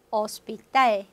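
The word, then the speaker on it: hospital: 저 스페인어 발음 특이한 거죠. H 발음 없는 거. 어텔, 어텔, 오스피탈, 오스피탈. 그래서 H는 발음이 안 내라는 것은 이렇게 항상 기억해 주셔야 되겠어요.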